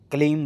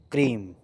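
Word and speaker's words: क्रीं: आपको ना हर मंत्र का जैसे कई लोग क्लीम बोल देते हैं। क्लीम नहीं होगा। क्रीम क्रीम ऐसे ऐसे मंत्र का उच्चारण स्पष्ट होना चाहिए।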